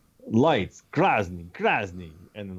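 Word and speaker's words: красный: So I'm like, he's like, you're Krasny. He's like, yes, Krasny. And he made fun of my pronunciation, but basically we figured it out that he wanted red lights.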